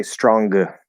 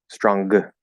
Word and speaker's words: stronger: might not know um many english learners think that the g the g is supposed to be pronounced so they would say stronger stronger right or in this